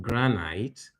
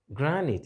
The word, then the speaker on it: granite: sound I'm sorry no for this is not Granite but granite Granite is a type of stone especially used in building Granite not Granite similarly this word does